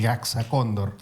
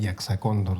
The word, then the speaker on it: Jaxa Cóndor: En quechua, que es el origen de mi apellido, este hay un sonido que no tenemos en castellano, entonces se pronunciaría el GXondor.